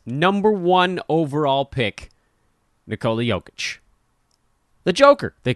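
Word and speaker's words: Jokić: joker gotta pronounce that gotta pronounce that j the right way nicole yokic why is there no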